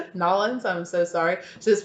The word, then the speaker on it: New Orleans: Oh, also New Orleans. Nolans. Sorry, this person very quickly told me that's not how you pronounce it. Nolans, I'm so sorry.